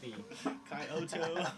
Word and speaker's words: Kyoto: interviewing us, it's like, I mean, everybody sort of pronounces their own way. Kyoto. Yeah. And they're like, Kyoto. he was like, here we Coyote. are with Coyote Hi-Fi. Coyote Kyoto, yeah. And I was like, Kyoto.